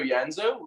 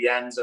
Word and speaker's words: Janzo: of sentences wait in in ireland would would you pronounce janzo yanzo do you pronounce the j with a yeah yeah yeah yeah it's just a song copy that because they do the same in in belgrade as well they also say yanzo and sanjanzo um i'm